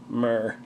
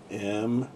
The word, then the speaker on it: myrrh: "Myrrh." That's how he meowed. He'd say, "Myrrh." Okay, pure. This is going to find it. This is going to find it. Let's see, how do you spell it? M-Y-R-R-H.